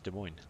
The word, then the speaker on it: Des Moines: kilometers Japanese like their Torpedoes oh yes it's Des Moines that's bad congratulations on pronouncing it correctly good job you get a